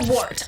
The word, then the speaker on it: Wort: I'll do that again this is the wort on gums radio is the words not warts not Forks not short no works I'm sorry